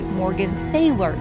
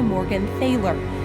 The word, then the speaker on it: Morgenthaler: patriarch William the blacksmith requested the family go by Morgan f failor to avoid the discrimination and hate that went with possessing a German name at that time but when the war concluded some of the family returned the original pronunciation While others clung to Morgan theor to this day there are prominent family members who refer to themselves as Morgan ther While most of the